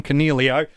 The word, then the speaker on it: Coniglio: I hope your captain Fires does much better than Coniglio.